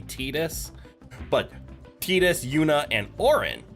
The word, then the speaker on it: Tidus: I'd like to pronounce it Titus, but I do think it's canonically Tidus.